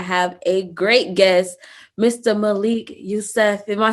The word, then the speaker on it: Malik Yusef: and today i have a great guest mr malik yusuf am i saying it right yes ma'am okay